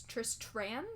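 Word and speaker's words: Tristran: his name in the book is harder to pronounce it's trist Tran there's a t I'm very glad they changed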